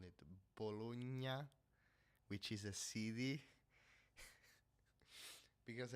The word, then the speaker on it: Bologna: you're fucking stupid, or bologna. I don't know. Because bolognese, because GN is pronounced ñ, ñ, ñ, ñ, ñ, ñ, like gnomo, uh, Bologna, Pagnotta, um, other uh, GN words, I don't know.